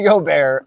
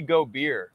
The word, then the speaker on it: Gobert: You said it right this time. Rudy Gobert licked a bunch of mics. He called him Rudy Gobeer.